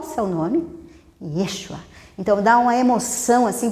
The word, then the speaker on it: Yeshua: É como se fossem pequenas variações do nome José, mas se pronunciava Yeshua, dando uma certa tônica para a letra E.